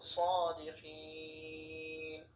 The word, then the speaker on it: صادقين: থাকলেও টেনে পড়তে হবে নুন যাবে সাদিকিন অফিস নুন সাকিন হবে এবং এখানে তিলে টেনে পড়তে হবে, উচ্চারণ হবে সাদিকিন।